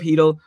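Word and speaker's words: Chytil: And one of their favorite players is New York Ranger rookie Philip Hedl, which is spelled Cheadle, but it's apparently pronounced Hedl.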